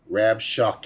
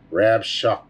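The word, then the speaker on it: Rabshakeh: you can hear this the pronunciation of this name rab shock hey okay rab shock k and there's a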